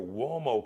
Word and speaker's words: Uomo: The U-O is like got the what sound. Italian, all right?